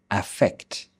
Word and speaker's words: affect: Let's begin with the pronunciation. E effect. Very short e sound. A affect.